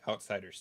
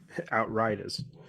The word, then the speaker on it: Outriders: Outriders. God bless. I just noticed it as well. I thought it was Outsiders, but then I clicked